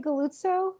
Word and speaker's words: Galluzzo: Is it Galluzzo? Is that how you pronounce it? Yeah, you're pronouncing it correctly.